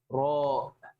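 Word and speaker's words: ر: So it's just too important to remember that this is a heavier sounding letter.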